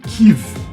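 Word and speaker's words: Kyiv: a produção estou usando a pronúncia mais próxima ocidental da do nome ucraniano original que é tive é tem aqui uma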